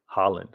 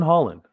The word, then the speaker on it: Haaland: Haaland.